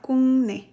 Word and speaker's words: 국내: like I keep repeating, it's not like an M, it's more like N. So here it's like a 국내. It sounds a little bit like that because, you know, Korean, they like when pronunciation is smooth. So it will sound like we are cutting veggies if we would say like 국내. So it will sound very like split. Yes, exactly. So it's pronounced more like 국내.